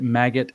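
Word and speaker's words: MAGAt: I think they pronounce it maggot, actually, yeah.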